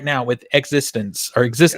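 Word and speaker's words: eXistenZ: him right now with existence or exist existen is actually how it's pronounced in the movie existen It's existence but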